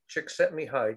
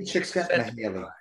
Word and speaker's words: Csikszentmihalyi: Mihaly Csikszentmihalyi. You'll never spell it. In fact, if you saw it, you'll never pronounce it the way it's being pronounced here. Okay. Csikszentmihalyi.